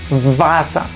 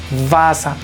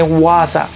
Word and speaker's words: Wasser: La W en alemán la pronunciamos como si fuera una V. Entonces esta palabra se lee Wasser, Wasser, no se lee Wasser, no, Wasser, Wasser.